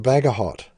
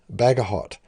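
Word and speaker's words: Bagehot: english constitution by walter i think it's pronounced bhaga hot bagahot and on part way through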